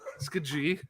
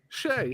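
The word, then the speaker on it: Skjei: if they had drafted Brady Shea? Oh gosh. Skajay? And from the Carolina Hurricanes, we select Brady Skajai. Skajai. Brady Skajai. Let's go. Skajai. It's like, no. Shea. It's Brady Shea.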